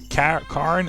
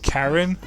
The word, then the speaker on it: Karen: Karen is Karen, I guess is how you would say it in English. I always pronounce it Norwegian.